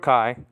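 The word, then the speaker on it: καί: From, okay, and, Greek word kai, kappa, alpha, iota, nowadays pronounced ke in modern Greek, okay?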